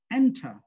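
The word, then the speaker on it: enter: এন্টার উচ্চারণ হবে কি, দেখো এন্টার, ওরা আর উচ্চারণও করে না, আর কি উচ্চারণ করে না, দেখো এন্টার, এন্টার। তাহলে এই ইএন এর উপর আমার জোর পড়ছে, আর এই লাস্টের সিলেবালে জোর পড়ে নাই।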